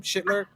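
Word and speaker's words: Schlittler: Schlitler.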